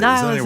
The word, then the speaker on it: Nihilism: Is that how you pronounce it? I think it is. Nihilism.